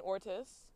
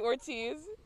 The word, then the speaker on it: Ortiz: there look at me this might be remained Ortiz it is didn't put the accent over there but definitely Ortiz we've been saying it wrong this entire game but back to Duke